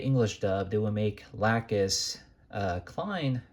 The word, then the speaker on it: Lacus: There's no O in there. It's Lacus, not Lacus, Lacus.